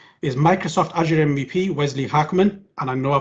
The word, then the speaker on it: Haakman: to connectivity issues is microsoft azure mvp wesley hackman and i know i pronounced that properly because i did some research